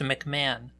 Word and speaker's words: McMahon: Oh, it's pronounced McMahon.